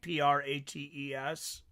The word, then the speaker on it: Prates: Okay, yeah, I get confused with the Portuguese sometimes because I wanna say it like it's Spanish and it's different, you know.